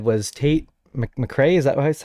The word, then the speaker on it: Tate McRae: see you um favorite influencer you said was tate mcrae is that was how you say it yeah